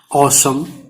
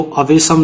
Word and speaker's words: awesome: ये है ऑसम, इसका देखो प्रोनाउंसिएशन भी यहां मिल गया, ऑसम, AWESOME, ऑसम। इसको अवेशम नहीं ऑसम पढ़ेंगे।